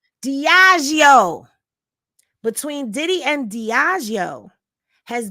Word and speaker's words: Diageo: Diageo, between Diddy and Diageo, has been the topic of conversation.